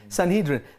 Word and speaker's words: Sanhedrin: you have to remember Paul was a sanhedrian Sanhedrin is that how you say it's sanhedra Sanhedrin this guy was a scholar of the scriptures